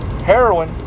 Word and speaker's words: heroine: into that word um heroine right let me see heroin right the way you pronounce that word is heroin it says a mythological